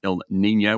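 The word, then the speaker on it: El Niño: without the Y spelled without the Y but pronounced Ill Nino which means uh little boy little boy so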